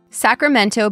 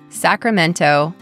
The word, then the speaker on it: Sacramento: Sacramento became a boom town during the California Gold Rush. Sacramento, California.